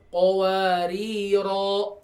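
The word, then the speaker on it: قَوَارِيرَا: Jadi berfungsi nih alifnya, jadi ro-nya jadi 2 harokat. Kanat qawariro kalau di wakafkan.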